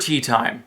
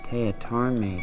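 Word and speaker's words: Teatime: Tea Time. It's pronounced Teatarme, sir.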